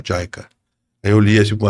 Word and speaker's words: JICA: com a agência japonesa, tava escrito assim, Jica, que a pronúncia certa é Jaica.